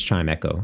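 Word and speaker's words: Chimecho: you say that chimo feel like it's chime Echo right cuz it's like a bell chiau Okay so chiau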